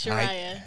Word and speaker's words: Shu Rya: Yes, it's Shu Rya.